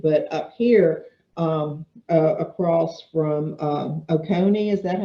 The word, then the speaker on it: Oconee: But up here, across from Oconee, is that how you pronounce it? Yep. Across from Oconee, there's this teeny little county there that is in the 5th quintile there.